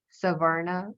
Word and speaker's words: savarna: I think um they're referred to as savarna right is that how you pronounce it yes I I learned a